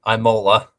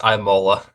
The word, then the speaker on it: Imola: going back to F1 the next race is Imola it's Imola Imola no Mason's sitting there agreeing with me